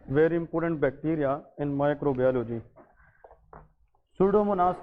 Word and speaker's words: Pseudomonas: सूडोमोनास के बारे में याद रखें, इसमें ये पी साइलेंट है, सो दैट इज सूडोमोनास एरोजिनोसा।